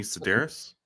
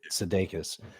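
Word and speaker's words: Sedaris: what what's her name Amy sederis Amy sederis I always want to say sedus Amy sederis plays the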